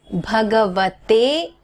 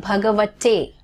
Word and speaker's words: Bhagavate: So it is Om Namo Bhagavate. Now understand, it's not Bhagavate, okay?